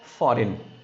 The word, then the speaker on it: foreign: It is not a foreign. It's a foreign. FOREIGN. Okay. GN. Understand? G silent यहाँ पे क्योंकि rules कहते हैं N के पहले G use किया तो G silent बन जाता है.